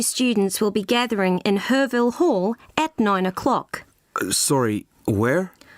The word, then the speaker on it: Herville Hall: all the new students will be gathering in herville Hall at nine o'clock sorry where herville Hall I'll spell it for you it's h e r v